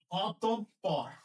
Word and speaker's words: অতঃপর: বিসর্গের ঠিক পরে যে বর্ণটা থাকে সেই বর্ণের দ্বিত্ব উচ্চারণ হয়, দ্বিত্ব উচ্চারণ হয়। তাহলে কি হবে? অ অতঃপর অতঃপর অতঃপর অতঃপর অতঃপর।